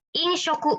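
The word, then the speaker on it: 飲食: Inshoku bacanya.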